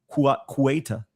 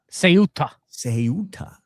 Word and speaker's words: Ceuta: God bless everybody in Yona told me how to pronounce it, and now it's gone from my head. Kuwaita. I know I'm butchering it, Yona. Ceuta.